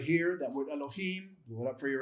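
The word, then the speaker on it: אלהים: So it's not Elohim, it's Elohim. I'll do that for you again. It's not Elohim. If you say Elohim, it's not pronounced right. It's Elohim. So it's shorten that beginning, make it brief.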